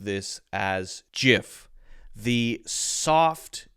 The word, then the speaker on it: GIF: It is a soft G pronounced GIF.